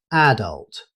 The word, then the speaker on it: adult: The word adult is pronounced as adult. In British English, the stress is commonly placed on the first syllable, making it sound like adult.